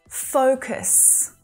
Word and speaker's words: focus: Kind of like share, the vowel sound might be a little different to what you think, okay? It's a long diphthong sound. O, as in go, right?